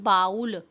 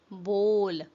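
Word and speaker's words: bowl: pronounce the word बोल इट्स नॉट बाउल इट्स बोल बोल हाउ डू यू प्रोनाउंस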